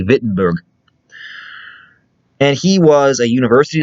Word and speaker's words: Wittenberg: i've learned of german germans usually pronounce the w with a v sound so i'm going to say wittenberg and he was a